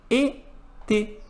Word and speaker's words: été: Então, uma outra palavra que utiliza o acento agudo, que utiliza l'accent aigu, é a palavra été, que significa verão.